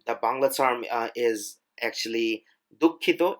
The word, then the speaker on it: দুঃখিত: If you want to say sorry, you can just use sorry, or the Bangla term is actually দুঃখিত. It's a little bit difficult to pronounce.